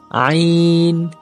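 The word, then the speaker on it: عين: কণ্ঠনালী একটু চাপ দিয়ে উচ্চারণ করবেন, আইন।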